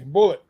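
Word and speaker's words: Bulleit: do you pronounce it there's an e in there though yeah bullet bullet right yeah all right I'll take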